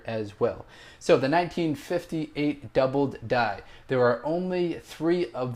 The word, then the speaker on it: doubled die: very thankful for that I was saying the word double died the actual way to pronounce it and the way it's written as you'll see is doubled die so doubled die that's the what it should be pronounced as but not really a